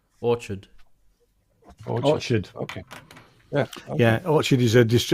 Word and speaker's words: Orchard: I can't find out I always called it all card oh one second sorry just spell it for us oh uh o r c h r d Orchard okay yeah yeah actually this is a publisher